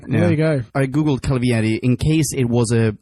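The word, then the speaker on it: Calvierri: I googled Calvieri in case it was a historical reference or something.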